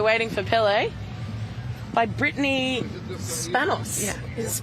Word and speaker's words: Spanos: So I'm joined here, while we're waiting for Pele, by Brittany Spanos. Yeah. Is it Spanos?